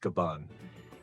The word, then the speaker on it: Gaban: And we discovered this in a spectacular way through the words of Scapper Gabban, pronounced Gaban, in chapter 1,170.